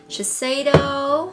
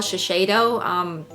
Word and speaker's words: Shiseido: For like my whole entire life, I call it Shiseido. Don't know why. I'm pretty sure I heard it somewhere a long time ago and it just stuck by me. And so one of you said it's called Shiseido. Didn't know that was the correct pronunciation because I've been saying